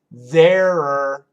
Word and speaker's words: there're: Yeah, the contraction of there are, there're, there. You feel it? Can you hear that? There. And to be honest, when Americans say it really fast, there. Sounds the same.